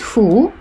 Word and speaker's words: 府: Дальше с Осака и с Кёто будет ху. Вот это вот ху, да? Вместо кен.